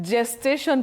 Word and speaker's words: gestation: Now the letter is G but the sound is J G.